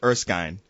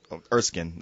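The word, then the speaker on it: Erskine: know he's professor professor urkin uh erskin um either I they pronounce it both ways um oh I had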